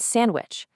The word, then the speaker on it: sandwich: Who actually pronounces that first D? Nobody. It's Wednesday. Same goes for handsome and sandwich. We say handsome and sandwich. The D just completely vanishes.